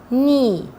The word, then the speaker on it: knee: Another words like no, knee, knife. Here the K letter is silent.